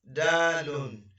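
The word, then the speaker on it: دال: And the next one is dalun. And the shortened pronunciation of it is dal.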